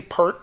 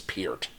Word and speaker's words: Peart: I want to say Pert because I've said Pert my whole life, but I think the family name is Peart.